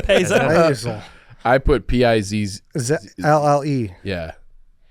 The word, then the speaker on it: pizzelle: How do you even spell that? Yeah, awful spelling by Lance. Puzzle. That's Payzel. Pizzelle. I put Pizzle. LLE. Yeah, Pizzelle.